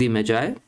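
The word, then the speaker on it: Magi: इसको आप मैगी भी पढ़ सकते हैं। यह प्रोनाउंसिएशन का डिफरेंस है। अलग-अलग तरह से लोग प्रोनाउंस करते हैं। कभी कोई इसको मैजाय बोलेगा, कोई मैगी बोलेगा। तो, यह आपके ऊपर है। ठीक है? यहां पर हम इसको मैजाय बोल रहे हैं।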